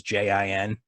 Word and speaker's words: jin: that people are aware when I say Jin that's a word that is usually trend like written in English as ji n or ji ng it'll always be pronounced Jin because you know homophones and